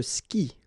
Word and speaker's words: skie: And it's exactly the same rule, so you've got this after, but then clearly you don't pronounce it, okay? Elle joue. And then, je skie, okay?